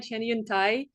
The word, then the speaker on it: Cheniuntai: awesome uh yeah so my name is Chun Tha thank you a Todd for pronouncing my last name uh you know perfectly